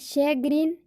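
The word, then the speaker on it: chagrin: बट कुछ ऐसे शब्द हैं जहाँ पर सी एच का उच्चारण श होता है। जैसे शैग्रीन, चैंडिलियर, सीमेज है ना, तो इसमें सी एच का उच्चारण श होता है।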